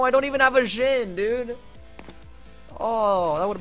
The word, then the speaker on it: Jhin: It's Jhin. That's how you say it. Jhin. That's a DJ noise together. Jhin. It's not Dejin. It's not DJ in.